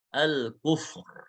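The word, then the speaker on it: الْكُفْر: Yang keenam ra sukun, sebelumnya sukun dan sebelumnya dhammah. Al-kufr, al-kufr. Ya ini ketika berhenti ya, ketika berhenti ini al-kufr. Ya kalau berhenti kan ra-nya sukun jadinya.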